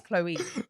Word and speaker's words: Chloë: a Chloe my name is my name is Chloe okay like people the biggest people so yeah